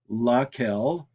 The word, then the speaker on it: laquelle: So it can be lequel, masculine singular, laquelle for feminine singular, lesquels for masculine plural, and lesquelles for feminine plural. Now, all four are pronounced the same, but all four are spelled differently.